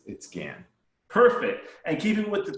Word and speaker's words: Gahan: saying it no no no worries it's it's pronounced scan it's a bit confusing because g-a-h-a-n but it's it scan perfect and keeping with the trend um this